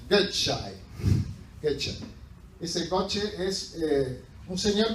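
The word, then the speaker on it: Gøtzsche: este señor que créanme que se pronuncia gai getch ese coche es un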